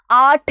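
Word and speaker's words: आठ: ഏഴാണല്ലേ okay എട്ടിനെ നമ്മൾ ആട്ട് എന്ന് പറയുന്നു വളരെ എളുപ്പത്തിൽ ആലോചിക്കാം അല്ലേ എട്ട് ആട്ട് എട്ട് ആട്ട് അല്ലേ ആ ഇട്ടു പിന്നെ എന്താണ് ട ഇട്ടു കൊടുത്തു അല്ലേ ആട്ട് എന്ന് വെച്ചാൽ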